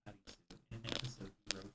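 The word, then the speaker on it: アリス: The name Arisu, the phonetic pronunciation of Alice Right.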